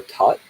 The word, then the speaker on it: Thoth: If you're watching this live, then tomorrow I'm giving a channeling of Thoth, or Tot in the traditional Egyptian pronunciation.